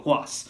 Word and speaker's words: Ruas: The Bruiserweight Pete Dunne taking on Arturo Ruas, which even though he spells his last name with an R, he pronounces it H. So, Arturo Ruas.